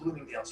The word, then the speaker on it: Bloomingdale's: back then so we're going to talk about bloomingdale's here in just a moment that's exactly how you pronounce it page 20 is where we get